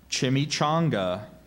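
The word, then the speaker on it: chimichanga: i n a t e incriminate that's correct chimy chonga can I have the definition please a tortilla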